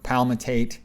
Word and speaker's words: palmitate: is palmitic acid or palmitate there you just pronounce the ending in ate when it's deprotonated as they routinely are in aqueous solution so palmitic acid is